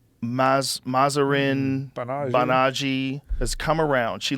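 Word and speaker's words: Mahzarin Banaji: Mazarin Banaji.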